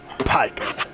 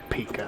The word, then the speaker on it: pike: picos i'll be honest i thought they were called pika i thought it was called pronounced speaker no just no no no just just straight up no it's pike not pika yeah so are we